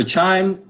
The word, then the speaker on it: QIIME: a couple people so chime stands for quantitative insights in microbial ecology it's pronounced chime but spelled Q IIM E it's an open source